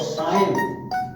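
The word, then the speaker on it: sign: और साइन, इसमें G साइलेंट है साइन में, साइन माने चिन्ह।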